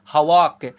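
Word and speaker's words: hawk: वा हाव सॉरी हवाक।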